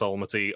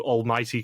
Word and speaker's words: Almaty: point out is that D'Angelo does not know how to pronounce Almaty or Kazakhstan. Kazakhstan. Because in the travel agent, he does ask for 2 tickets to almighty Kazakhstan.